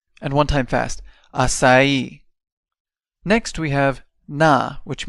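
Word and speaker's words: açaí: let's break this down a sa e and remember that the stress goes on the E and one time fast aai next we have na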